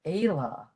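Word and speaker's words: Fhéile: The middle word, Ela. So again, when F is lenited, it wipes that sound out and we pronounce the rest of it.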